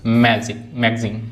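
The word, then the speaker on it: magazine: Next I को ई भी पढ़ती हैं, long sound, मशीन, police, मैगजीन।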